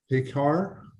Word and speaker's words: Picard: next to uh picard sorry if i'm mispronouncing it no that's correct thank you good morning